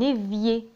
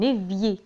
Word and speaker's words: évier: حوض الغسيل un évier، un évier، un évier. تسهيلا تنطق un évier.